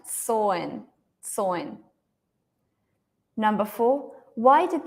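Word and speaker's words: Samhain: what was so yeah this MH is not pronounced it's silent soin so number four why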